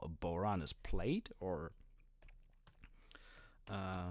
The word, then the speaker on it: bodhrán: is the boron bodhrán I think boron it's pronounced which is the celtic slash